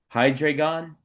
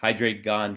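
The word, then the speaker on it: Hydreigon: this McDonald's card of uh I think it's pronounced uh Hydreon. So, there would be someone that would be like, "Hey, I only collect Hydraon cards."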